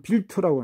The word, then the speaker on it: wild: 독일 말로는 이게 빌레라고 그래가지고 이만 들어간 빌레고 빈트, 요거는 빈트라고 그러고 와일드 이거는 빌트라고 합니다. 와일드는 빌트, 발음만 다르지 이게 다 스펠은 같거든요.